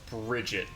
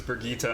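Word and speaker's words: Birgitte: TT e brigita and it's usually pronounced Bridget and like I pronounced it Bridget for a long time so when somebody pointed out that it was bergita and it was like a real name I was like oh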